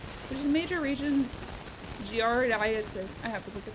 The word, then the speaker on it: giardiasis: Giardiasis. I'm curious about this. Pronounced giardiasis.